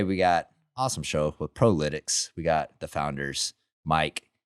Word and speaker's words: ProLytX: I asked Mike, I said, hey, is it Prolytics? Am I pronouncing that properly? And he said, sometimes you get like, Prolytics probably.